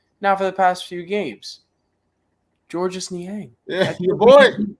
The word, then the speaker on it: Georges: for so long it's just dude dustin is pronounced george his name is georges we got we got some nian controversy on